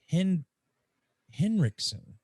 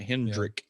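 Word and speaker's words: Henriksen: on how you say it's Lance hen riksen I always put a D in there yeah it's just hidden Rick it's not Hendrick but Henry what's Hendricks man we're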